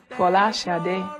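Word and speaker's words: Folasade: My true Nigerian name, or the true Nigerian pronunciation, or as close as I can get to it, is Fola Sade, which means crowning glory.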